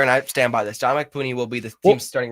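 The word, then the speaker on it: Dominick Puni: The guy who I've probably been the most excited about, who the Niners drafted, Dominic Pooney. Yes. And that's the correct pronunciation.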